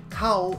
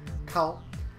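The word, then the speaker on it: 買う: Kao is the verb for to buy, and it's pronounced just like moo moo cow. Kao.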